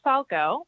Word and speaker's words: Falgout: My name is Falco. That is spelled FALGOUT.